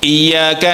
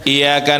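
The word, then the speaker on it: إياك: menyembahnya kepada Allah makanya hati-hati Bacanya syadahnya jangan ditinggal kalau saddahnya ditinggal iyaka na'budu kepadamu Matahari kami menyembah iyaka nastain kepada Matahari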